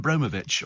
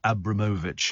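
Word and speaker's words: Abramovich: I say now it's Roman abovich or Abramovic it depends on which where you want to pronounce it Abramovic but there's uh there's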